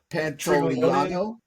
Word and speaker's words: Pantoliano: Pantoliano.